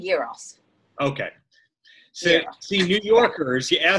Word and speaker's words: gyros: Is it pronounced gyro or gyro? It's called gyros.